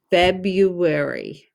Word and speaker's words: February: e b b feb and then the r is silent bebu we hear we hear the u fab u long u wary a r y says wary w a r y february f e b u